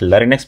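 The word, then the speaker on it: larynx: human में होता है उसको हम लोग लेरिस कहते हैं ठीक है एल ए आर वाई एन एक्स लेरिक्स भी कोई कोई प्रोनाउंस करता है कोई कोई लेरिस करता है लेकिन यह स्पेलिंग यह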